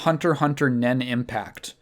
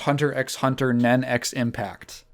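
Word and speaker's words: Hunter × Hunter Nen × Impact: I want to talk about Hunter Nen Impact. Alternatively pronounced Hunter x Hunter Nen x Impact. No, you do not pronounce the X's.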